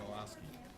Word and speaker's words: Milosky: pronounce the H silent. Are you going to be able to stay to the end? Milosky.